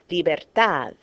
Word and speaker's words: libertad: Because it ends in a consonant other than N or S, so stress, natural stress goes on the last syllable. Libertad, dividir, and you'll see that dividir is a verb, okay?